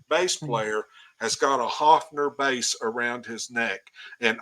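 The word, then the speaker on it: Höfner: that is I said yes that's a cathon he said no that's pronounced Hoffner I said well Paul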